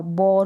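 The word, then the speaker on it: bore: फिर यहाँ पर है बी को ब और, बॉर हो गया। अब यहाँ पर जो एंड में ई दे रखा है ना, लिखते वक्त आप लिखेंगे लेकिन बोलते वक्त नहीं बोलेंगे, प्रोनाउंस करते वक्त।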